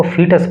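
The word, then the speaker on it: fetus: एंड फीटस, देखो इसका जो प्रोनाउंसिएशन है इस पर फोकस करना है, इसको फीटस पढ़ते हैं।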